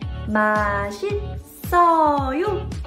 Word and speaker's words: 맛있어요: And the rule here is, if there is 받침 like this and the next door has silent syllable 이응, you would actually carry over the 받침 sound to next door. So this S syllable right here will be pronounced here. 마신. And right here, double S will also carry over to next door and say 마신써요.